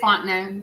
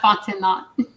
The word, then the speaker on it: Fontenay: And it is Fontenay. That's how you say her name. Not Fontenay.